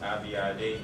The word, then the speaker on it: Abiade: It's pronounced Abiade. That's how I pronounce it. Only 6 letters and 4 syllables, so it can be a little bit confusing sometimes.